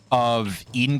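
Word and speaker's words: Aidyn: And that's what I've done, is pronouncing it as like Eden, or kind of like Aegis is pronounced that way.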